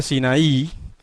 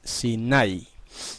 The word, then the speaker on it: Sinai: La mayoría de la gente dice Sinaí, pero en realidad lo correcto en el hebreo en cuanto a la pronunciación de esa palabra es Sinai. Se acentúa en la A y no en la I.